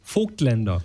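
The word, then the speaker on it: Voigtländer: Well, the proper pronunciation is Voigtlander. Voigtlander.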